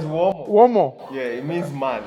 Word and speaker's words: uomo: How do you pronounce that? Try it. Umo. And Omo. Omo. So clean. It's Uomo.